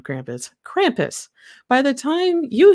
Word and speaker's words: Krampus: wish everyone a happy crumpus not Eve so yeah tomorrow is when Krampus comes yeah I just did the American pronunciation of Krampus Krampus by the time